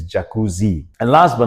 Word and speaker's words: jacuzzi: Ah some people pronounce it as jacucci. It's actually not jacucci, not with a G, but with a Z. So, it's jacuzzi.